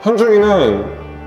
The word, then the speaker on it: 현중: Say Hyunjung then. Hyunjun! Fighting! Hyunjung. - Hyunjun! - Hyunjung. Hyunjun. - Not J U N - Yeah!